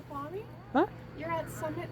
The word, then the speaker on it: Snoqualmie: Snoqualmie? Huh? You're at Summit Snoqualmie Central. Oh. Yeah. Squall?